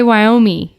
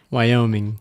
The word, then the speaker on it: Wyoming: go ahead number four I used to say Wyoming your brain just admitted the NG yeah I just thought it was pronounced I thought the ing was silent but it doesn't even end with a me Wyoming I've just pronounced it Jackson Hole Wyoming for